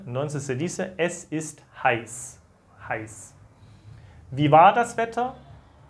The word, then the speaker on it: heiß: Y eso se pronuncia como una S, ¿vale? Entonces se dice, es ist heiß.